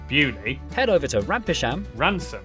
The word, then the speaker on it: Beaulieu: Starting in Biaulio, Bewley, head over to Rampisham, Ransom, then down to Mousehole.